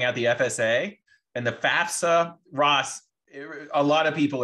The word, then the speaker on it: FAFSA: I encounter actually say FAFSA they throw an extra s in there but it is correct FAFSA right free application for